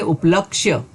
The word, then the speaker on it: उपलक्ष्य: और यह पूरा है हम उच्चारण करते समय कई बार यह को छोड़ देते हैं और उच्चारण करके बैठते हैं उपलक्ष्य तो जैसा उच्चारण करते हैं वैसा ही लिखते हुए है तो यह गलत है सही शब्द उपलक्ष्य में